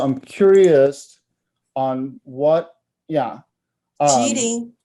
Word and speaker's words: Qílín: Qílín.